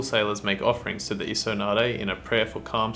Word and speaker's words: Isonade: Water Elemental, pronounced Isonade.